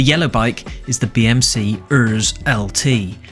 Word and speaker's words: Urs: The yellow bike is the BMC Urs LT, which definitely shouldn't be pronounced arse.